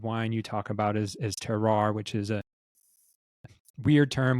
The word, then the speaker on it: terroir: But so it's a French term, terroir is generally how it's pronounced in English. The French say terroir. But terroir, actually, what first fascinated